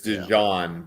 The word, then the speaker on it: DeJean: DEJEAN? D and then Jean. It's DeJean, but they say it DeJean.